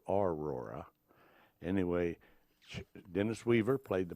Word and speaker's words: Aurora: Now, the folks in Aurora pronounce it Aurora.